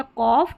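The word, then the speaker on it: cough: Next है number eight पर ओ यू जी एच। इसको ऑफ करके प्रोनाउंस करना है। ऑफ करके आप प्रोनाउंस करेंगे। और यहां पर सेवंथ नंबर पर आपने देखा ओ यू जी एच को ओ करके प्रोनाउंस कर रहे हैं। तो यहां पर देखिए ऑफ ओ यू जी एच ऑफ और ये ऑफ। टी आर को ट्रॉ पढ़ेंगे। तो ये हो गया कॉफ ये ट्रॉफ। कॉफ ट्रॉफ बहुत लिमिटेड स्पेलिंग्स हैं।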